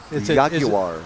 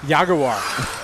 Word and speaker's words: Jaguar: Jaguar. Yaguar. It's not Jaguar.